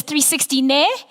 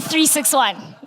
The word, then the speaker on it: 36ONE: So sometimes it's 361. My personal favorite is 360 ne, but it is actually 361.